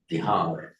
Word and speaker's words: Bihar: The other Northern Indian languages are not pronouncing the final a. That's why they do it bud, rag, bihar.